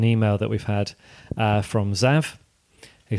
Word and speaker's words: Zav: Pronounced Zav.